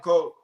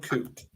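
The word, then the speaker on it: Koht: Keanu Colt. Keanu Coot. I don't know. I always mispronounce the name. It's Coot. Coot.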